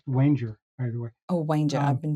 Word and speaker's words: Wanger: think uh Walter wer I think his name is pronounced Wanger by the way oh